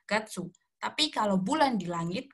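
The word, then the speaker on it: 月: dalam bahasa Jepang itu kanji kanji bulan ini sebenarnya dibacanya juga bisa Suki bisa Gatsu bisa getsu tapi kalau untuk mengarah ke kata bulan bulan benar-benar bulan Januari Februari Maret April Mei dan sebagainya itu kita pakainya Gatsu tapi kalau bulan di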